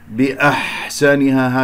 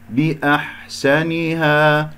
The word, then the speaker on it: بأحسنها: بأحسنها بكسرة الباء، الحاء لطيفة رقيقة لا تشممها هاء، بأحسنها هكذا خطأ، بأحسنها هكذا بارك الله فيكم.